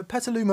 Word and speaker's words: Petaluma: he says hello from petaluma hello from petaluma petaluma of course the home of mesa boogie oh